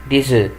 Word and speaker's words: œufs: طبعا هنا ليه بقول ديز؟ عشان الاس بعديها ان فويل بنطقها زد وما بنطقش لا الاف ولا الاس في اخر الكلمه، عشان كده بقول ايه ديزو.